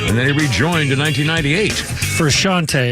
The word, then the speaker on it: Frusciante: Frusciante is how you pronounce it. You probably know this song. Frusciante, is it?